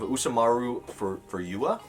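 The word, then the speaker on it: Usamaru Furuya: in a store before uh but we have usamaru for for yua that's how you pronounce it and this is shortcut shortcuts volume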